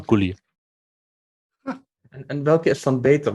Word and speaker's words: Gully: Aber es wird deutsch ausgesprochen, also Gully.